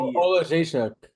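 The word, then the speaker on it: Oleksiejczuk: I'm not gonna try to pronounce his last name, but he got a nasty. Olajszak.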